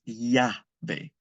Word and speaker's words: llave: The word for key, llave. The double L in Spanish is pronounced like a Y. So the word for key is llave.